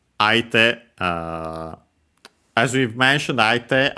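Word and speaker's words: 相手: As we've mentioned, aite actually would be accented on the last syllable on its own, and would be heard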